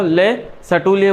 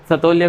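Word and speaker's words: Le Chatelier: Pronunciation इसका अलग अलग होता है, जनरली क्या बोला जाता है इसको, ले सटूलिय बोला जाता है, ठीक है। पर तुम हिंदी वाले हो तो सतोलिया कर दोगे बेचारे को, ठीक है।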